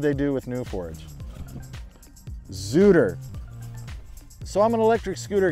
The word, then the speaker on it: Xootr: today is a zooter yes it's spelled x-o-o-t-r but it is a zooter of course i'm dagwood